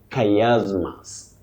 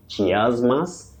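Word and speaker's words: chiasmus: Oh, a very tricky word in pronunciation from Greek. Now you say kayasmas. Kayasmas. That is the way to pronounce that word. Many people innocently say chasmas.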